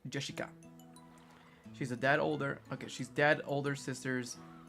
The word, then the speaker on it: Jessica: You see, actually it's pronounced Jessica.